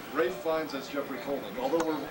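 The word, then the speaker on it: Ralph Fiennes: um brave ray finds lots of people pronounced that ralph yeah incorrectly that's right ray finds us jeffrey coleman although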